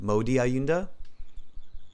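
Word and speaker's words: Maudy Ayunda: answers to hers right so um am I pronouncing her name right mamo diaunda huh um Modi Modi ayunda yes that's right okay maybe somebody can even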